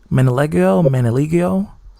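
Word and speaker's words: Manganiello: That's how you pronounce his name. Manaligio.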